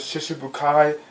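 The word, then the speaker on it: Shichibukai: I think you pronounce it Shishibukai, the way they say it.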